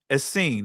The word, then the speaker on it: Essene: According to Josephus, Manaen was an Essene, or Essen, however you want to pronounce it.